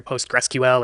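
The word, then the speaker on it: PostgreSQL: at the end so you might hear postgressql or variations of that I just call it postgress so sqa is a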